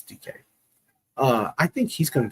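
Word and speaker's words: Dike: DK uh Chamira DK, that's spelled D I K E, by the way. I I said it wrong a million times. I got a bunch of uh crap for it. So, Chimera DK, spelled D I K E, but it's DK.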